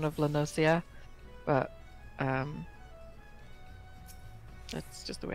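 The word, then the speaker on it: La Noscea: I always take it as it being quite a piratey place and them not using a soft C.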